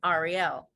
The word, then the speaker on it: Ahriel: And I was like, you know what, how can I make them pronounce my name as it is pronounced, correctly? And I threw in the H and I was like, okay, this makes sense. Everyone can get it. So when people read my name now, they read Ahriel.